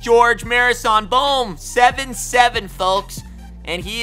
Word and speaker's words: Gheorghe Muresan: They call him Gheorghe. That's not his name. It's just Gheorghe Muresan.